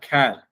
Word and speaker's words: char: C-H-A-R, char. We will pronounce it as a char when we are writing the programs.